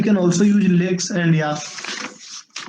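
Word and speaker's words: YACC: Now, Yak, the pronunciation is like Yak, Y-A-K, right?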